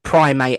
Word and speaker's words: primate: But yes, you did pronounce it right. It is primate as in monkey.